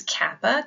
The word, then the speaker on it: kappa: Next is kappa. Kappa is a little K. That's easy. K as in key.